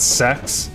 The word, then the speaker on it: sex: in Latin and when she said sex, which is how you say six in Latin, I laughed and she got really mad at me.